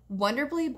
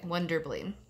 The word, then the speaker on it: Wonderbly: your kiddos or other kiddos in your life wonder bleah books is so rad I did this for